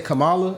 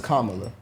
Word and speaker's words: Kamala: Because I know normally I would say Kamala, but that's not how you say it. So it's Kamala.